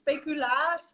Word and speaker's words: speculaas: yes, it's like in Dutch it's speculaas, but in international it's used speculoos, and it's actually sold all around the world.